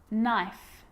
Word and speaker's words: knife: A K is not pronounced when it comes before an N, like knife, no, knee, knock, not, knowledge.